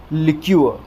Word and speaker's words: liqueur: Pronunciation क्या हो जाएगा, देखिए वर्ड स्ट्रेस की जो पोजीशन है वो क वाली साउंड के ऊपर रहेगी। यहाँ पर ल वाली साउंड के ऊपर थी, लेकिन यहाँ पर क